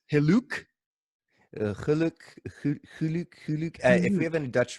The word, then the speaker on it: Gelok: So I know that there's a lot of mispronunciations on the already established but mispronounced Gelok. There's Gelok, Gelok, Gelok, I'm sure. But you said it's Geluk. Geluk.